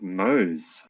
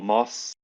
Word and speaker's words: Mose: Yeah, it was Mose. It wasn't Mose or Moss or Mosey.